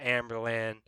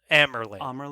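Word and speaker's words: Amyrlin: So now I'm like, okay, Egwene's gonna become Amberlin. I'm Amerlin, not Amberlin. Amerlin? I think is that how you say it? That's how sometimes it's said in the audiobooks, but it's not consistent.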